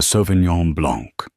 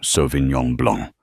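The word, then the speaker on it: Sauvignon Blanc: The Sovenon Blanc. She pronounced it with a hard flat G and an anglicized blank.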